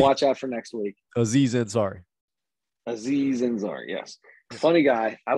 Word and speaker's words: Aziz Ansari: So we're gonna watch Ari Ansari. I think is how you say his name. I can't remember. We're gonna watch out for next week. Aziz Ansari.